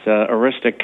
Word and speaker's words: Aroostook: Well, this family was in New Brunswick, and it abuts Aroostook County, that's how it's pronounced, incidentally, in Maine, and they had bought